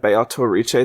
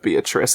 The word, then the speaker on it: Beatrice: fact that it said Beato Riche this whole time, it's literally an Italian pronunciation of that name. Like that is like a very specifically Italian language pronunciation of Beatrice, and only Italian.